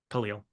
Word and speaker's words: Khalil: It's been bothering me since I saw his name and found out how it's actually pronounced. Khalil.